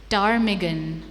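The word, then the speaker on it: ptarmigan: Silent letters. Your first word is टारमिगन।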